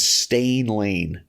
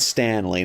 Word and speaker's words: Stan Lane: For some reason, I always pronounced the Bobby Eaton's tag team in the Midnight Express. It was Bobby Eaton and Stain Lane, not Stan Lane. It was always Stain Lane.